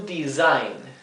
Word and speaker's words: design: To design. Acá otra vez tenemos una S simple entre dos vocales y se pronuncia z, como una S vibrante.